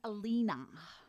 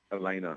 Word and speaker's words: Elena: I think I'm on Team Alina. Right. Did I say her name right? Elena. Elena.